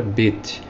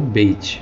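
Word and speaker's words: בית: A segunda letra do alfabeto hebraico é a letra Bet, ou Beit. Alguns pronunciam Bet ou Beit.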